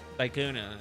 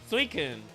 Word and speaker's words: Suicune: Suicune. Suikun. Suikun? Suikune? I don't know. Suicune, I think is how it's being pronounced. Which is technically based off a leopard.